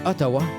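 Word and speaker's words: Outaouais: Leur nom est prononcé Otawa.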